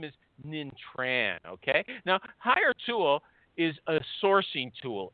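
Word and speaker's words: Hiretual: H I R E as in hire, and Tual, T U A L as in mutual. Hire Tual. My buddy there is the COO. His name is Nin Tran, okay? Now, Hire Tual is a sourcing tool.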